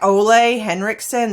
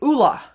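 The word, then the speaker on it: Ole Henriksen: is this popular Sephora brand it looks like olle henriksson this is uh Norwegian brand and it's actually Oola so SP like aola AA La so if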